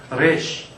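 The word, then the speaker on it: ריש: 레쉬. 영어처럼 이렇게 혀를 말아서는 안 하시면 좋을 것 같아요. 이쪽은 혀를 말아서 내는 소리, 레쉬가 아니고요. 레쉬. 우리 그냥 리을 흘러가는 발음할 때 하고 같이 하시면 돼요. 레쉬.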